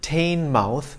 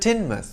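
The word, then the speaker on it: Teignmouth: are the answers one it's not pronounced taine mouth but tinmuth two it's not pronounced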